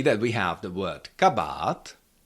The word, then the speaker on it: kabát: We have the long ah in the second syllable but the stress is still on the first syllable. So you have to say kabat. Kabat. Never can you pronounce it like something like kabat kabat or something like that. That that doesn't sound like a check word anymore.